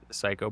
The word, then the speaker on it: Cayko: It is pronounced Psycho, but it is spelled Cayko.